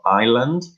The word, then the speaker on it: island: the pronunciation Asian of Island the S is silent so Island yeah II